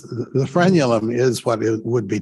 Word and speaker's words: frenulum: go and that's the torn uh is it pronounced frenulum well it it's yeah it's the frenulum is what it would be torn but this